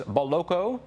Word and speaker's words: Boloco: and he joins us now i've got the pronunciation right john it is boloko you did yes okay we're not in new